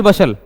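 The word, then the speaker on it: bustle: हम बोलते हैं एक वर्ड होता है हसल बसल हसल बसल किसी को पता है कोई जानता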